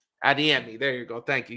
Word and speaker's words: Adeyemi: with uh a demand is that how you pronounce his name it's adeyemi adiemi there you go thank you you know I